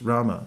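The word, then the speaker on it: राम: ROM or Rama Rama Rama it's two syllables Rama in Sanskrit Rama in Hindi you can say ROM ROM every once a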